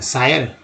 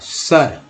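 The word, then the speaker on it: sir: दिया मैंने, तो क्या एस आई आर को क्या बोलेंगे, सायर, यहाँ आई का उच्चारण अ के रूप में बनाने अ, सर, चरस सर।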